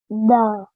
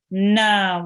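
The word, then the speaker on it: نَ: And noon with the fatha is pronounced? Da. Na.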